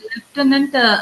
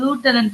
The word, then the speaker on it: lieutenant: லெப்டினன்ட், அவங்க வந்து லூட்டனன்ட் சொல்லுவாங்க. லூட்டனன்ட் சொல்லுவா. லூட்டனன்ட் அழகான வார்த்தை. லூட்டனன்ட் பிரிட்டிஷ் இல்ல பிரிட்டிஷா அமெரிக்கன்ஸா? லூட்டனன்ட் வந்து அமெரிக்கன் சார். இந்த இது லூட்டனன்ட் வந்து அமெரிக்கன், Lieutenant. Lieutenant. லெப்டினன்ட்ன்றது லெப்டினன்ட் வந்து பிரிட்டிஷ்.